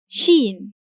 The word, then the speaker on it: ش: And please, pronounce the sound of Shīn as you draw it. , . When Shīn comes in the initial